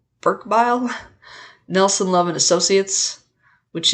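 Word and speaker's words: Berkebile: just W Bob okay I think it's pronounced the name is Burke bile I'm sorry um it's b e r ke e b i l e from again Burk bile Nelson love and Associates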